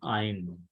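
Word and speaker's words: Ayin: G from given and Ein please listen very carefully Gmail gives a g sound clear G sound but whereas as we are studying classical Biblical Hebrew Ein is a silent letter and it gives uh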